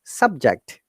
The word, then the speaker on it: subject: So for the noun and adjective, the stress should be first part. So it is higher intonation to fall intonation. So subject.